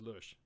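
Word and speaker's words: Loesch: Due to my multilinguistical abilities, I pronounce it as the German word Lurch because that's how you pronounce it in German, and that's a German name. So it's not Lash. There is no A in there. It's pronounced with an umlaut. So if you see that it's pronounced Lush.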